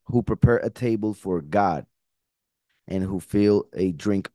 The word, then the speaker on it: גד: And even though one may say, but God is with an O, this is with an A, remember that, first of all, the pronunciation is exactly the same, God. And in Hebrew, the vowel is not there. It's just the G and the D. So it will be exactly the same.